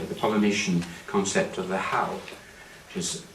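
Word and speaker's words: hau: or Polynesia, sorry, the Polynesian concept of the how, which is spelled there, H-A-U, this is the spirit of the gift.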